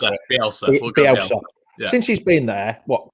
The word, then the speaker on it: Bielsa: So your manager, you'll have to pronounce him because I can't pronounce it. Bielsa.